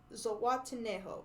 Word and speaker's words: Zihuatanejo: town in Mexico named Zihuatanejo. And yes, I wrote that how it sounds and not how it's spelled. But Zihuatanejo, how he wants to live there when he finally escapes.